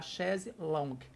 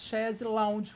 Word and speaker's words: chaise longue: A chaise, o correto é a gente falar chaise longue, mas pronunciamos chaise lounge. Por quê? Porque lembra um lounge.